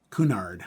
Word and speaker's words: Cunard: Uh Cunard, that's how you say it.